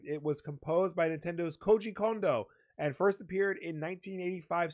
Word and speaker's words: Koji Kondo: Brothers in world 1-1 that was a good pronunciation thank you of them I figured I'm not going to say coaching condo like I would have said that